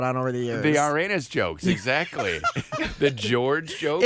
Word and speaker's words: Uranus: The Uranus jokes, exactly. The George jokes. It's spelled that way, but it's pronounced Uranus. the Greek god's spelling is O-U-R, but it's pronounced the same way.